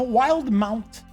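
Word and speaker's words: Wildemount: see the release of the Explorers guide to wild Mount yes I actually went and found out how to pronounce that name it's wild mount for Dungeons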